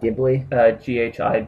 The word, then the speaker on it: Ghibli: Studio Ghibli. Browser choices. And Studio... How do you pronounce spell that? Ghibli?